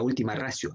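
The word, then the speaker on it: ultima ratio: La última ratio, es así como se pronuncia, o como normalmente se conoce, la última ratio, ¿no?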